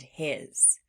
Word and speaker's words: his: Sometimes in words that sound like floss words, they end in what sounds like a Z sound, but it's actually being spelled with an S.